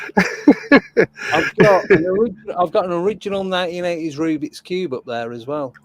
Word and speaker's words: Rubik: You put the emphasis on Rubik. the wrong bit. It's a Mandela Rubik's effect. Cube. It's a Rubik. Mandela effect. It's the way you said Rubik's Cube, not a Rubik's Cube.